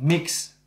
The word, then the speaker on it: MYX: And it was the second of the mix. Life, now we know how to pronounce it.